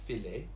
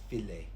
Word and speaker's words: filet: Now, this word here is pronounced filet. We have an English word which is fillet with a double L, but here it's pronounced filet.